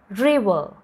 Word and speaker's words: river: Okay, second one, റിവർ, റിവർ, The first R is pronounced R sound. River, re, e, re, e, re, v, v, v, not v, it's v, v sound. Re, v, v, a, a sound. And last the R, that is, that R sound is silent. So this word ends in a sound.